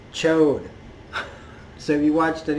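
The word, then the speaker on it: Ch'od: of I also Corsair says chode so if you watched it you might the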